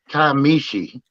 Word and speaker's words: Kiamichi: Well, supposedly you're supposed to pronounce it Kiamichi.